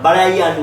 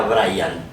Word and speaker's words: Brahian: Se llama Brian, pero Brian así, no el Brian, no es el Brian con H. Los españoles lo pronunciarían Brian, ¿no? Porque ellos aspiran a la H, Brian.